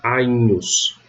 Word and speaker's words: Agnus: O GN vai ter som de NH. Então, no exemplo clássico, Agnus não se lê Agnus, se leria se fosse a pronúncia reconstituída. Mas na pronúncia romana eu leio Agnus, com um NH, Agnus.